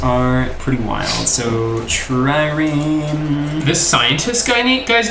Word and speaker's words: trireme: So, Trireme. This scientist guy's name, it's like he renamed himself to sound extra intellectual, I feel like. So we've got those two. Trireme armor, Trireme Do we have weapon.